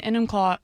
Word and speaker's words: Enumclaw: Um John in Enumclaw In Enumclaw? How do you say that? E-num-claw.